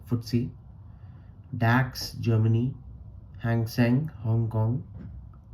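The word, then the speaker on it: FTSE: Among these are the Nicay Japan, FDSC UK pronounced footsy, DAX Germany, Hangen Hong Kong and TSX Canada.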